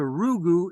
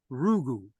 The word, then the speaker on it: Rugu: So Rugu is guru backwards, phonetically. Guru, Rugu.